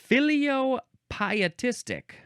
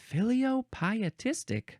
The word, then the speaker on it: filiopietistic: it's time for the last word which is filiopietistic filiopietistic it is spelled f i l i o p i